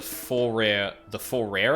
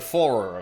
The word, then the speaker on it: Forer: The Fourier effect? Like Fourier... No. I'm thinking of Fourier transforms, which is different. For rare pronunciation. I don't believe that. Sure. As spelt, I guess. The Forer effect.